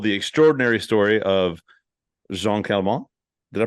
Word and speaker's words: Calment: You told the extraordinary story of Jean Calment. Did I pronounce that right?